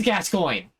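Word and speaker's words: Gascoigne: have two knives gas oh she actually does pronounce it his name is gascoin wow I completely forgot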